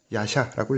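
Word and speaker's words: 夜叉: 야차라고 하는데 일본어를 읽으면 야샤라고 읽습니다.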